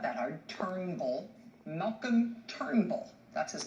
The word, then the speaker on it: Turnbull: His name is not Trumbull. His name is Turnbull.